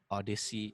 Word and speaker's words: Odyssey: So there's this rapper called Odyssey, Odd IC. It's spelled Odd IC.